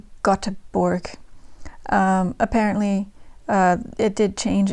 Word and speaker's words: Göteborg: I wrote down a pronunciation guide, but it's probably still bad. Göteborg. It looks like Göteborg.